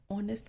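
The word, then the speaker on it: honest: ऐसे ही एक और एग्जांपल है ऑनेस्ट, एच ओ एन ई एस टी। ऑनेस्ट में भी क्या है, एच साइलेंट है, लेकिन ये एच क्या है, कॉन्सोनेंट है लेकिन एच साइलेंट है, तो ओ से शुरू हो रहा है। इसकी साउंड कौन सी है, ऑनेस्ट, ओ की साउंड आ रही है, ओ इज़ अ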